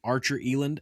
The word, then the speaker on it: Archer Eland: I have Wendy joining me from Archer Eland, and I think that's how you pronounce it.